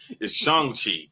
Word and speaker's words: Shang-Chi: Because I've been saying Chang for so long. Yes, it's Shang Chi.